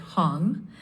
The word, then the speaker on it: Hong: Hong is usually said like hung and Yale is Yale like Yale.